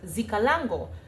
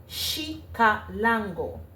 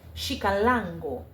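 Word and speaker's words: Xicalango: would be pronounced as shika lango and the emphasis is on the second a after the l with an accent over the a shik lango with that emphasis.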